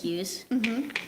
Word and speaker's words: Hughes: in elementary school, I think it was like 3rd grade, Miss Hughes. She rhymes with shoes.